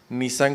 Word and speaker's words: Nisán: Nisán con una S y acento en la A.